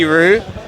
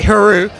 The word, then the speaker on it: Hru: was going to say Hru, and then just to annoy you a bit. Added syllable. It's 3 letters, 1 syllable. H is silent. Yeah, it's very easy. like kangaroo.